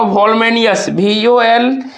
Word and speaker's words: voluminous: और स्ट्रेस जो लगेगा इस पर LU वाले पे लगेगा, तो ऑप्शन में देखिएगा LU किस में अंडरलाइन किया है उसको टिक कर दीजिएगा।